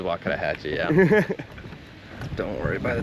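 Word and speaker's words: Wakodahatchee: And I'm not going to say Waka Hatchi wetlands. It is Wakadahhatchee.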